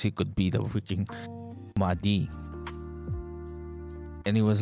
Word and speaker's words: Mahdi: Okay, Mahdi.